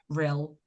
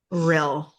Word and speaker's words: Rhyl: Yes, that's how you say it. Cuz I can see you staring at the word saying, "How do I say that?" Rhyl. Rhyl. Rhyl, like thrill but without the th.